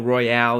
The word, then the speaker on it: Royal: Number 7 is Hotel Royal, or Hotel Royale. It's spelled Royal, but people have been calling it Royale since the beta.